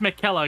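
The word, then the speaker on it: Miquella: It's pronounced Mikella, according to what we're seeing here.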